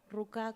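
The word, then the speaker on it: рука: Ruca con acento en la A.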